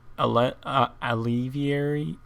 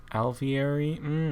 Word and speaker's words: alveary: have finished creating all the alveary the alleviary alveary i always say it wrong i finished creating the